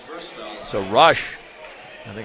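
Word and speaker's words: Roesch: Jordan Rush's first foul. So Rush, I think it's pronounced it's R O E S C H. They say Rush.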